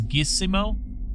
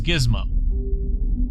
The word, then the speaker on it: Gizmo: I thought it was I thought it was geese mo and it says gizmo which sounds way cooler